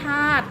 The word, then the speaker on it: ธาตุ: เต่า สระ อิ ไม่ ออก เสียง แล้ว ก็ อย่า ธาตุ ต่อ เต่า สระ อุ ไม่ ออก เสียง นะ คะ คำ ที่